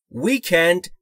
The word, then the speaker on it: Weekend: Weekend با این تلفظ یعنی W رو باید دقت بکنید. لبها حالت بوسه یا حالت لوله‌ای. Weekend یعنی پایان هفته یا آخر هفته یا تعطیلات آخر هفته.